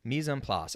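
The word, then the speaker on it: mise en place: really important concept called mizonplace and that's a french word and it's spelled m-i-s-e space en space p-l-a-c-e looks like place you know mison place and it's a french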